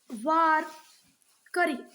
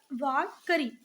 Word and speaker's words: वारकरी: Cents of Maharashtra, the Vaishnav Saint of Maharashtra called वारकरी, क्या बोलते थे बच्चा? वारकरी, वाराकरी मत बोलना, वारकरी।